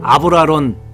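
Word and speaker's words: Abralon: 아브라론 패드인데 밀카라는 회사, 핀란드 회사입니다. 아브라론 패드. 그렇게 읽어야 되는데 아발론이라고 읽습니다. 이게 아발론이라는 단어가 전혀 아닌데 이게 잘못된 습관에서 그렇게 읽고요.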